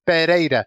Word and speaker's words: Pereira: by the way yeah if there were two r's put together then it would be pajeda if there's just one R it's pereta like you said but uh anyways uh